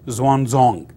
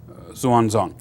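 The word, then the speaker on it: Xuanzong: her cousin uh Emperor Zan zong uh X is pronounced like TS Swan or Zang zon so not X1 you know the the pronounced X as like TS swong on and so he ruled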